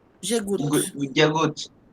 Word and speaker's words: goûte: Je goûté. Je goûte. Je goûte. Porque la E no se pronuncia.